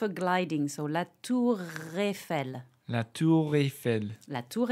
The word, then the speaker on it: Eiffel: So Eiffel. Eiffel. So there's no E sound. It's not E, it's E. Eiffel.